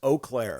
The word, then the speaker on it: Eau Claire: Eau Claire. Ew. I'm hearing Eau Claire. Eau Claire. It's Eau Claire.